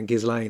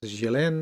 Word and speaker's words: Ghislaine: I keep hearing people calling her Ghislaine and stuff like that. As I know, her name is pronounced Ghislaine. It's a French name.